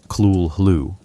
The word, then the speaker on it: Cthulhu: Unlike Cthulhu, which Lovecraft provided pronunciation guidance for Kul Hoo, a Zathoth exists in textual silence.